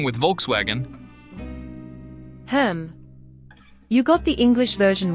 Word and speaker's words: Volkswagen: You got the English version right, but in German, it's pronounced Volkswagen. What? Volkswagen? That sounds so different. Yep. The V sounds like an F, and the W sounds like a V.